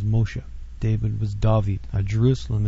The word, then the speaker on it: Moshe: as we pronounce them Moses his actual name was Moshe David was David a